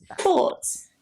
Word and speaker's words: sports: Hi, sports.